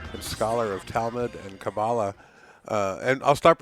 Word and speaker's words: Kabbalah: hope she's wrong uh cabala is simply the anglicized pronunciation in in correct Hebrew would be cabala accent end but either works and I'll slip back